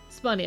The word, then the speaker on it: Spoonie: Is it Spunny? Because that's something I did do recently. Spunny, okay, Spunny. I am still a tier list enjoyer.